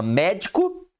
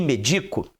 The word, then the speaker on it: médico: para escrever a outra o acento É só para indicar a sílaba o quê tônica Ah vai mudar o significado vai mudar porque a sílaba tônica altera o significado também pele Pelé Pará para